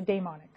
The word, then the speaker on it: daemonic: Now, there are also demonic, I don't know, people pronounce it in different ways. I think it's the people who are a little superstitious that say daemonic. I just call it demonic.